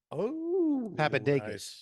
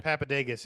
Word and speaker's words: Papadakis: Papadakis.